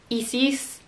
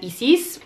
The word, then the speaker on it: Isis: osiris horus and tefnut i particularly liked how they did the pronunciation of hathor and isis because i don't know about you but for the majority of my life i pronounced that as hathor and isis and i think they might have changed east because of the similarity to a certain terrorist group but aside from that